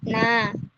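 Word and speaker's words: นา: Yang kedua ada aksara nonu digabung dengan aksara a. Dibacanya jadi na.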